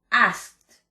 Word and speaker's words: asked: En pasado, asked. Con T. Asked. Responder, answer.